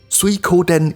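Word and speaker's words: 水滸伝: as discussed in the previous episode water margin pronounced as suikoden in Japanese was very influential in the developments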